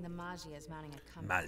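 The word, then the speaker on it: Maggia: Sources are saying the Magia is mounting a comeback. It's pronounced Magia. Magia.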